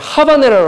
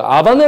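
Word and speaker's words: habanera: 넓어 하바네라 근데 그 스페인어 하기 때문에 하바네라 라고 읽으면 안 되요 아 반해 라고 읽어야 마 때요 근데 제가 그냥 이렇게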